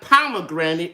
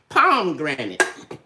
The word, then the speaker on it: pomegranate: to say paprika because that's what my mother pronounced but it's paprika and it's not pomegranate it is pomegranate anyway you know we learned stuff from our